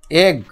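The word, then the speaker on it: egg: আর ইজিজি, E double G এগ। দুটো যদি জি থাকে তার উচ্চারণে কিন্তু একটাই জি হয়, একটাই বর্গীয় হয়। দুটো জি থাকলে কি হবে? একটাই বর্গীয় হবে।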